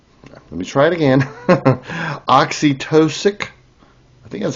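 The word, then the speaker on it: oxytocic: Oxytosic. I think that's how it's pronounced.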